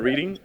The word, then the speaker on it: Reading: Wait, you mean you said I call it Reading or Reading? I was calling that shit Reading from jump, bro. It's spelled Reading. Like if I wrote Reading, you were reading the book. It's how you spell it.